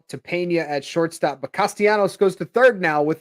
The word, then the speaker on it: Castellanos: guy ostianos I could I just kind of like saying his name castianos you know I used to say it wrong all the time I used to say Castellanos yeah that's that's all